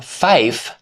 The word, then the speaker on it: fife: 5 became fife because the modified pronunciation is more distinct and easier to recognize over poor radio communications. As with the rest of the system, the goal was clarity, not ordinary English pronunciation.